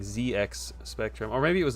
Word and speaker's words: ZX Spectrum: I say it's ZedX Spectrum because that's just how it's said. I uh I don't know. I used to listen I still listen to the Retro Warriors podcast and uh they used to get roasted for saying ZX Spectrum or maybe it